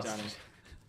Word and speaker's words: Janney: Alison Janney. It's just Janney. It's Janney, yeah. It's a normal word. Half of it was right, and then like even the bit you got wrong Janney.